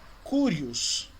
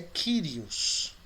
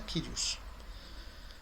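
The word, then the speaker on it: κύριος: Você vai ouvir algumas pessoas pronunciando como Curios. Mas a pronúncia é Kyrios. Ok? Senhor. Kyrios. Você vai ouvir alguns pronunciando como Curios.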